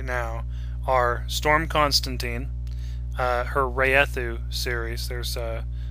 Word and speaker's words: Wraeththu: my head right now are Storm Constantine, her Raethu series. There's it's spelled Wraeththu.